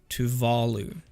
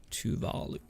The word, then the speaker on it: Tuvalu: Tuvalu is the pronunciation. Tuvalu.